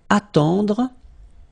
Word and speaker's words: attendre: Then, attendre. Attendre. Remember, final E, you don't insist on it. It just gives you the possibility to pronounce the dr, dr.